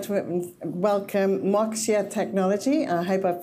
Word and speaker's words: Moixa: uh I'm founder of MOA technology is the word Axiom backwards we rethink foundations of